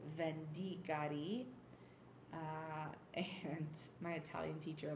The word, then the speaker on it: Vendicari: a long long time I was saying vendicari but it is vendar uh and my Italian teacher laughed at me when I said where I had gone and she's like no no vendar see vendar okay vendar